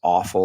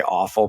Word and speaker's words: offal: Another name for it is offal or offal. We like to say offal because if you say awful, people are like, well, yeah, it's awful. But it's spelled OFFAL.